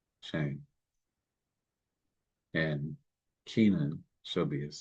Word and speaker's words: Shem: And this is actually pronounced Shame. Shame.